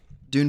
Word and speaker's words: Dune: really blanking pretty hard on that uh odd Dune part two it's pronounced dun are you being serious I'm being